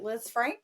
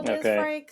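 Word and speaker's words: Lisfranc: And they compared it to the is it Liz Frank? Is that how you say it? Frank. Yeah. Yeah. Kind of a French name.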